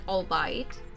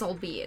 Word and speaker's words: albeit: to pronounce albeit because in my head i always said all bite but apparently it's all be it and ever since then